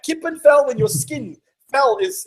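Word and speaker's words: kippenvel: I get Goose pimples how do you say that in Dutch Gip andf what is it Gip andf KIPP and fell I love that Kip and fell when your skin fell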